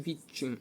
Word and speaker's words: відчим: каже тепло Холод і відчим відчим буде отакийм відчим буде подовжений звук ч і запам'ятайте це слово наголос на другому складі де пограме Холод і